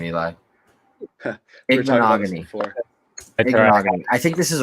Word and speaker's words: Igbinoghene: Noah Igbinoghene.